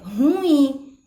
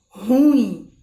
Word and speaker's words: ruim: em seguida em que na verdade o acento tônico e ele está no ii e não no ó então a gente deveria pronunciar é ruim e não ruim tá então a gente